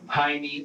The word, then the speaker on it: Jaime: The J in Jaime here is pronounced with an H sound, like it would be pronounced in Spanish. But Michael and the detective pronounce Jaime with the J sound.